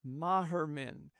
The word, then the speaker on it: Moherman: Moherman. It's spelled Yep. M-O, but it's an A sound because it's German, right?